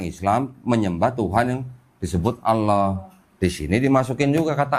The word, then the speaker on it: Allah: A-L-L-A-H tulisannya. L-nya 2. Cuman nggak ada tasdidnya, Bu. Jadi bacanya tetap Allah gitu.